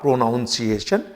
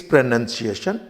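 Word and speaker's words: pronunciation: प्रोनंसिएशन इसका noun है इस प्रोनंसिएशन को भी कुछ गलती से प्रोनाउंस एशन बोल देते हैं इट्स नॉट प्रोनाउंस एशन इट्स प्रोनंसिएशन learn correct प्रोनंसिएशन एंड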